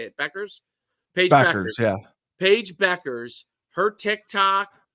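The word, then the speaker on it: Bueckers: Paige Beckers.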